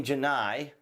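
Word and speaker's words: Gennai: Now, as we have discussed here on the channel, we are aware, for example, of Jenny Janai, I believe is the way she pronounces her name, the executive from Google that we have talked about.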